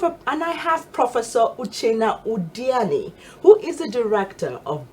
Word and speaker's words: Uchenna Udeani: and I have a and I have Professor uchena odiani who is the director of distance learning Institute